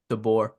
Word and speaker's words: DeBoer: So, um, and I think DeBoer, how do you pronounce it? DeBoer.